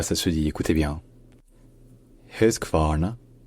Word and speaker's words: Husqvarna: Et enfin, le Q se prononce comme un K.